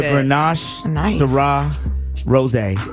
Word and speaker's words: Grenache Syrah Rosé: It's a Grenache Syrah Rosé. That's how you pronounce that.